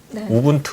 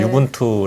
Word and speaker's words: Ubuntu: 없고 또 보통 그 ubuntu 닷컴은 뭐 우분투 라고 하는데 제가 u 분투 라고 발음을 해서 또 4 않음 부터